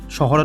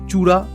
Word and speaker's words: শহরা: চেরাপুঞ্জি স্থানীয় খাসি ভাষায় শহরা নামে পরিচিত। ব্রিটিশরা এই শহরা শব্দটি সঠিকভাবে উচ্চারণ করতে না পেরে বিকৃতভাবে চুরা বা চেরা বলে উচ্চারণ করত।